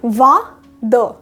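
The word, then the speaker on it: vingt-deux: 22 को बोलते हैं वा द, वा द, वा द में बीच में ये हाइफन और डैश लगाना बहुत ज़रूरी है, ये हमेशा ध्यान रखिएगा।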